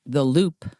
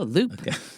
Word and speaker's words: WLUP: So, Dahl's radio station WLUP in Chicago And by the way, that's pronounced the Loop. The Loop, not Lup? No, Loop.